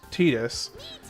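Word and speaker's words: Tidus: some point, I know technically his name is pronounced Tetus. And I understand the council has made a decision on that, but I think it's a stupid decision and I refuse to call him Titus cuz it sounds ridiculous.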